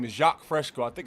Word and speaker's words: Jacques Fresco: Hey, real quick, I wanted to ask you if you ever heard of a man named Jacques Fresco.